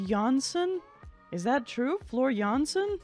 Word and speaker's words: Jansen: band in 1996 also oh Jansen is pronounced jansson is that true Flor